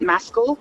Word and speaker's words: Maskill: Yeah, I mean, they pronounce it Maskell.